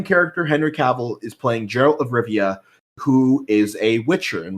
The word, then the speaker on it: Geralt of Rivia: so perfect to play arrow of Riviera and what's that name again I pronounce her oh it's Geralt of Rivia ah he plays a